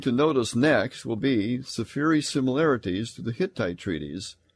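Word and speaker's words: Sefire: and safiri is s-e-f-i-r-e it looks like it should be pronounced seafire but it's safiri we've talked about the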